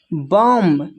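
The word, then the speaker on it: bomb: फिर है बम बम में जो है बी साइलेंट है। यहां पर म होगा बम बम में भी बी साइलेंट है।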